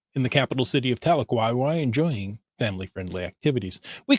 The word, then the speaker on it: Tahlequah: This comes from Tahlequah. I know that because we have a Tahlequah here in Washington State as well, so it helped me with the pronunciation. But this is Tahlequah, Oklahoma.